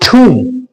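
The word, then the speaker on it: tomb: तो यहां पर देखिए टी ओ एम बी इसका जो सही उच्चारण है दैट इज ठूम ू ू इस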